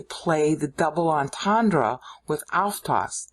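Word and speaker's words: αὐτός: But by leaving it out, he gets to play the double entendre with autos. Autos. Autos is how Greeks say it should be pronounced, but it's really autos in Old Greek, Bible Greek.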